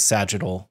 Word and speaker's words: sagittal: in two different orientations those are tangential and sagittal lines am i first of all pronouncing that right you got it okay and why do we perform the test with both tangential and sagittal lines oh cause they're